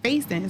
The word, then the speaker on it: Faison: So it's like, we pronounced his name and he's my half brother, so he had his mom's last name, which was Faison.